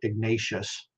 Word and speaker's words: Ignatius: Ignatius de Loyola and I say it's a Spanish way Ignatius not Ignatius but you know r-a-e-o-u if you understand the Spanish uh vowel pronunciation that's why I say it that way Ignatius um but he